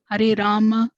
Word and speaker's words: Rama: krishna krishna krishna krishna rama rama ramarama krishna and rama rhymes with brahma are sanskrit words is